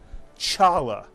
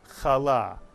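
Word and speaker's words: חלה: but rather kanuka and this word is not pronounced Chala but is pronounced kala or kala so this Hebrew letter the eighth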